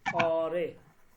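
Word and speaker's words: آره: অরে অরে মানে কি উচ্চারণটা এভাবে হবে অরে অরে অরে মানে ইয়েস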